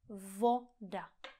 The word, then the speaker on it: voda: Voda. Voda. Pozor, není to vou, ale o. Vo. Voda.